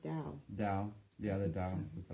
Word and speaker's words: Tao: it's pronounced Tao.